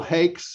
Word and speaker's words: Hakes: the last name it's it's one syllable hakes it rhymes with bakes or cakes great and um so